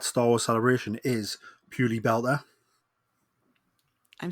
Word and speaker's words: belta: So it's purely belt is like just with a like an a on the end like belta. Purely belta. Yeah, that's how you say it.